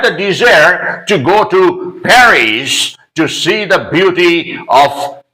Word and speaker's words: Paris: name of this place Perry yes they do not pronounce following the French linguistic rules in French in fact the last letter is not pronounced by the French people or those who know